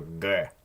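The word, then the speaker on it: Г: The first one is a G. G. It's a gamma. It's a G sound. However, it does change to a K sound if it's at the end of a word or syllable, which I didn't really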